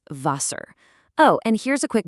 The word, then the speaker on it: Wasser: The W is a V, giving us "Wasser".